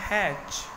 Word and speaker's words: hatch: आगे देखो HATCH, उसको बोलते हैं हैच, टी इसमें साइलेंट है।